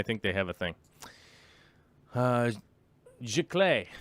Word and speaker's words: Giclée: Giclée. Yeah, that's how you say it. It must be French.